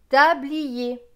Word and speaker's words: tablier: BL, BL se prononce bleu. Avec IER, IER se prononce yé. Donc bleu et yé, blier. Là, on va bien prononcer le i, plier.